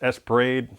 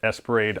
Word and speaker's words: ESP Ra.De: It actually says it Esperade on the actual game when you let it run in the track mode.